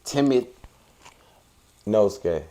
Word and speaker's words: Temet Nosce: How do you pronounce it? It's Temet Nosce. Okay. Yeah. Temet Nosce.